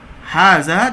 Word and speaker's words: هذا: itu ini spank kumannya Hazard dilafalkan khaza namun tetap ditulis tanpa Alif setelah huruf H Oh ya tapi pelafalannya seperti ini ya dibaca Haza tapi penulisannya seperti ini tuh maksud dari buku